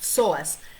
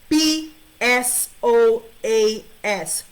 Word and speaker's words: psoas: called the psoas muscle it's called psoas it's pronounced psoas p s o a s psoas and this is an internal muscle that